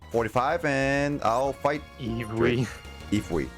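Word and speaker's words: イーブイ: Ifui. Yep. Oh, That's how it's actually, pronounced in Japanese.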